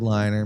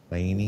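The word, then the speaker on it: Laine: players available as a forward, maybe a third liner, maybe a fourth liner, is Patrick Lane. Laney, how do you say his name?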